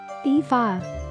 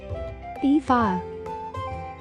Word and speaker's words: Aoife: So, how do we go about pronouncing this name? Aoife. Let's repeat. Aoife. Say it with me. Aoife.